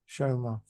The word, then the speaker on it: Chioma: But Chioma, that's how she pronounced her name. Chioma.